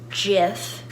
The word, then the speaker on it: Jif: my Jif peanut butter it's a J so that's why it's pronounced jiff if it was a